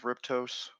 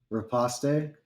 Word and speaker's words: riposte: I'm gonna attack him back with Riptos. Okay. Riposte? Or how do you say that That word? too. It's riposte. Who was it? Riposte? Assassin 2. Yeah, it's riposte.